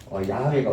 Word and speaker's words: 야훼: 혹시나 순복음교회 사람들이나 아니면 미국 기독교 방송인들 보시면 야훼 하나님 이렇게 나와요. 최근에 들어가지고 사람들이 연구하다 보니까 발음이 여호와가 아니고 야훼가 어떻게 보면 옛날에 읽었던 발음은 야훼가 맞았더라.